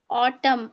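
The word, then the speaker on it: autumn: वो साइलेंट हो जाएगा ऑटम ऑटम एन तो एन का साउंड आएगा ही नहीं ऑटम कॉलम कॉलम ही पढ़ेंगे डैम हिम ऑटम column dam और हिम बस ठीक है।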